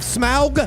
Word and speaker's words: Smaug: two the desolation of smaug yeah i actually had a voiceover in here to pronounce it like that smile i got all these